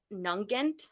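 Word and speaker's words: Nugent: Diamond It Is by Liz nant I think is how you pronounce that last name n u g n t it looks like nugget it's not so this is going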